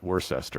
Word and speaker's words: Worcester: lived in Worcester and it's spelled like worseat Worcester it is yes yeah um and